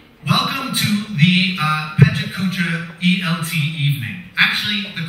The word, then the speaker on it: Pecha Kucha: welcome to the uh pentakucha elt evening actually the correct pronunciation is prachachka and it's a japanese word originally meaning chit